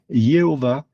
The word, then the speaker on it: Yahvé: consonnes et C'est pourquoi certains prononcent yodavé Yahvé quand d'autres vont prononcer exactement le même tétragramme mais vont le prononcer Jéhova ou Jéhovah parce qu'en langue française le I et le J sont fusionnés dans la lettre Yode.